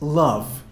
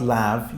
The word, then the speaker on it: love: It's love, not lav. You said lav a couple of times.